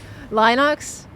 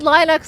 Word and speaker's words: Linux: does make a difference lonox I said Linux last time and everybody poked to me for it so I'm I'm just going to like I'm just going to say it now and you guys are just going to deal with it cuz I said L the other day and everyone was like what did you just pronounce it like that like it was the most cursed thing I've ever done and I was like